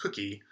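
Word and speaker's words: koekje: this leaf which looks looks like it would be hard to pronounce but it's actually pronounced cookie uh with a dutch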